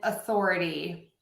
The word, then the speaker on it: authority: And authority. Does it start with the schwa or the sound? Yes, I actually say it with the schwa sound.